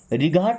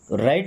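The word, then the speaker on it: right: है नॉट मी्स नहीं राइट रिगाहट नहीं पढ़ते जब भी जी एच टी आएगा तो जी एच साइलेंट हो जाएगा ओके राइट मींस होता है सही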